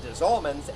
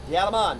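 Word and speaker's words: Des Allemands: the German Coast little town called dman and Desman is the Louisiana pronunciation of diaman the French term for of the Germans there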